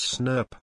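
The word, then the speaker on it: snRNP: burn you clear proteins abbreviated as SN R and P and pronounced as snap so splice ESM is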